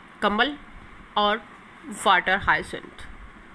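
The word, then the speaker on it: hyacinth: उनको aquatic animals, जैसे कि कमल और water हाइसिंथ। We will pronunciate इट हाइसिंथ।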